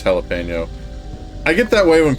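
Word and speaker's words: jalapeño: away pronunciation a pet peeve of course it's jalipeno I get that way when people pronounce like Spanish words wrong like whenever I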